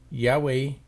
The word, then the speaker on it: Yahweh: the four consonants and the reason it's a w instead of a v is it's a German scholar that did it and they pronounced her